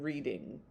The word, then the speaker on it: Reading: In 1785 to 86, Austen with her sister Cassandra attended the Abbey School in Reading. God, I forget how to say it. It's Reading.